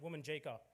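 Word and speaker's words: Wominjeka: I'm not too sure if any of you have ever heard it, but it's pronounced Womanjika.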